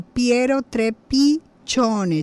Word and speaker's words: Trepiccione: Por eso, bueno, su Twitter @polis360, y en Instagram y Facebook lo pueden encontrar como Piero Trepichone. Chone se escribe CCI sin la H, porque bueno, tiene su descendencia italiana, nuestro amigo Piero, a